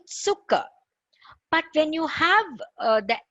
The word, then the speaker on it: Zucker: you have Z, it's Zucker. Zucker means sugar. Okay, Zucker. We write it with a Z, Z or a Z in English, but we say Zucker.